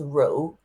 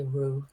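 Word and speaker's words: Rượu: pronounce the name of your scotch show it's pronounced Ru but I think Americans can just say Ru which R Rue yeah is like who like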